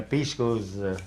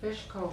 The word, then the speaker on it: pishko: say was, when the pishkos come back, why, then it's time you can butcher. So you pronounce it fishko, huh? Pishko.